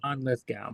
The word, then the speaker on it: Lithgow: words and stuff I I always said John Lithgow yeah it's go Lithgow but people I've C I've